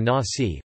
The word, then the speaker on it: Nazi: The National Socialist German Workers' Party, or Nazi, pronounced as Nazi in English, were devoted to what